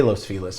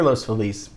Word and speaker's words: Los Feliz: We say Los Feliz for some reason. So when you hear Los Feliz, maybe it's a newcomer that means well, but we just don't play that game.